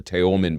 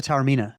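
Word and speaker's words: Taormina: I think her name was Sheila Teman, but I'm probably mispronouncing that. Sheila Tarina.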